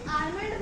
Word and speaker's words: आमंड: हम सब इसे आमंड बोलते हैं, बट एल इसमें हमको साइलेंट रखना है, इसमें हमको एल को प्रोनाउंस नहीं करना है।